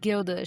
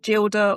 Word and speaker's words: Gilda: into a fight over whether her name should be pronounced Gilda or Gilda, because I was like, if it's Gilda, it's from the Gilded Age, where everything is gilded in gold. It should be Gilda.